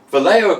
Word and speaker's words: Vallejo: Yeah, in the meantime, I'm going to say it right, Vallejo Acrylics water features set.